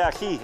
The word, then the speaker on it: ají: Ají, ají.